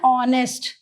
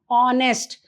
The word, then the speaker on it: honest: orange an elephant an honest so here H is silent honest an R an honorable